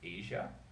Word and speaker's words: Ayza: Her name is Asia, and it's spelled AYZA.